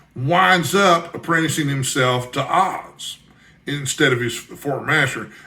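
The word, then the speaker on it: Aahz: But before he dies, he has transported one of his wizard buddies from another dimension, Oz, which is spelled A-A-H-Z, who is a demon from the dimension of Perv.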